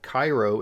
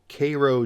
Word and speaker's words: Cairo: the US you have Cairo in Egypt but here in the US you have Cairo Georgia and Cairo Illinois and here we have